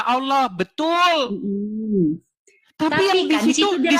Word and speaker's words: Allah: Makanya itu bacanya bukan Allah, Allah. Kalau hurufnya alif lam lam ha. Hm. Dibaca Allah.